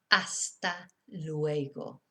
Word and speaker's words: hasta luego: in our language too there is a difference between how we should speak and how we actually speak so you might just hear luego even or if you don't pronounce it correctly it might just be lo or talo or if you're speaking to somebody who speaks good spanish hasta luego okay lo siento i'm